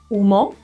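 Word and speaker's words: humo: look at some examples UMO smoke Ando iron are examples of the silent h at the beginning words like a now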